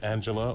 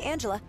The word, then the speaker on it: Angela: talking to miss Solano is your name pronounced Angela or or anela both are fine but uh most people call me Angela your name is Angela